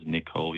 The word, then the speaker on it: Nikol: Hi, yes, my name is Nikol, yeah.